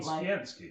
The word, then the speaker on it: Sienski: His name is said how it's spelled, which looks like John Sienski.